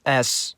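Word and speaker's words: С: At least it helps me remember how to pronounce this letter. S.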